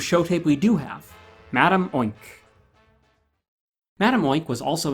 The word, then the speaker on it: Madame: truly your home although I'll be calling her Madame oink she insists that the proper pronunciation is mad on she would always correct Chuck-E-Cheese when he introduced